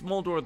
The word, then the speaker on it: Moldo: he keeps he's saying mold the great over and he's saying mold the great saying my name it's moldo the great but in Goblin um Lilith you're the